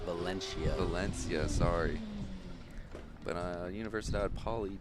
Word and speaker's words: Valencia: Sky 65 is A team from Venicia, Spain. A team from Spain. I think it's pronounced Valencia.